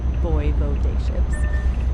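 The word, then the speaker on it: voivodeship: In Poland, they're called VO ships, pronounced roughly VO day ships.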